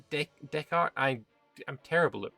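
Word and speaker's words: Descartes: We have Renee Deskarts. Um which will be nice as well. It's Decart.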